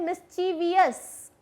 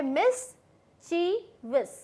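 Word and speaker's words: mischievous: मिस्चीवियस, अब लोग इसे प्रोनाउंस करते हैं मिस्चीवियस, वियस नहीं होता, ये होता है मिस्चीवियस, वो बहुत मिस्चीवियस है, मिस्चीवियस। ठीक है, वियस नहीं होगा।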